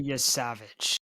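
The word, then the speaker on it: Yesavage: Yeah, his name is Trey Yavage.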